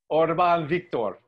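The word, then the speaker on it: Orbán Viktor: Orban Viktor.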